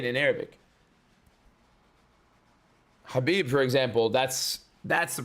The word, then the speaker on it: Khabib: Why do you pronounce Bad with your whole chest? But not Kabib.